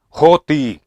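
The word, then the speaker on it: ὅτι: son separadas por la palabra griega que se pronuncia joti Qué significa qué y a veces se unen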